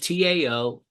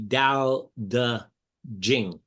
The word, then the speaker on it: Dao De Jing: But the correct Chinese pronunciation, the T is a D and the CH is a J. Okay. So it would be Dao De Jing.